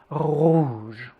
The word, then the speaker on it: rouge: Rouge.